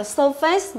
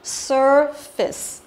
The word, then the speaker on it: surface: Từ này không đọc là surface mà surface. Surface có nghĩa là bề mặt.